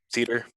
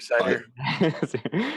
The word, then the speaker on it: CIDR: I pronounce that right how do people pronounce this CIDR cedar like to drink your cider all good it's like